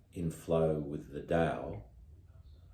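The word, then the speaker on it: Tao: in flow with the da d t AO although it's pronounced da if you're not in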